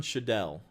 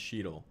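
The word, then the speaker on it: Cheadle: i don't either matt i used to say dawn chadell and then everybody yelled at me and said it was pronounced sheedle i could yell that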